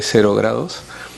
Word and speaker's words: Zero Grados: Yo la pronuncio, no pronuncio la Z porque me sale muy raro, así que yo diré Cero Grados.